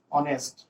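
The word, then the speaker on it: honest: আকৌ মই যদি লিখো এইচ অ এন ই এছ টি, অনেষ্ট, অনেষ্ট কওঁতে ইয়াতেও এইচ অ হৈছে, তো এইচৰ উচ্চাৰণটো সাইলেন্ট হৈছে, গতিকে এইচৰ উচ্চাৰণটো কি হৈছে অ হৈছে, অনেষ্ট, গতিকে অটোতো ভাৱেল সাউন্ড, যাৰ কাৰণে ইয়াতে আমি এন দিব লাগিব।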